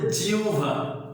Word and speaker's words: জিহ্বা: আর যদি এখানে হ্রস্বই থাকে বা দীর্ঘই থাকে, আর এরপরে যদি হওয়ার সাথে বফলা হয়, তখন এটার উচ্চারণ হবে রস্যু আর ভ, উব। যেমন জয়রশ্মি হয়ের সাথে বফলা, কাজে এটার উচ্চারণ হবে জিহ্বা।